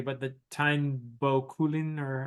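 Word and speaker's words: Táin Bó Cúailnge: kind of thing, Yeah, I don't think I'll pronounce it correctly, but the Táin Bo Cúailnge, or how do you say that? The Táin Bo Cúailnge, yeah.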